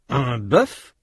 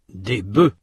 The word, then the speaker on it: bœufs: Notez que dans ces mots, la consonne finale ou semi-voyelle final dans le cas de œil prononcé au singulier n'est pas prononcé au pluriel.